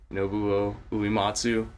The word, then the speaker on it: Nobuo Uematsu: I always say Nobuo Uematsu.